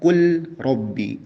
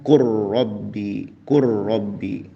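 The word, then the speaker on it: قل رب: Jadi ada yang berpendapat qul rabbi, lamnya dijelaskan izhar, ya. Tapi pendapat ini ditolak oleh para ulama, sehingga yang dipraktekkan adalah meleburkan huruf lam tersebut. Jadi dibacanya qur rabbi, langsung ke huruf ro.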